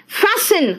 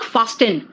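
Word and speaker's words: fasten: Next देखो तो फैसन, इट इज नॉट फास्टन, इट इज नॉट फास्टन, इट इज फैसन।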